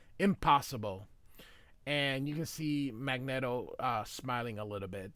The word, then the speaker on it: Magneto: And you can see Magneetto uh smiling a little bit. The reason I say Magneetto is because it's Magnet with an O. Magneto would be M A G NE T O.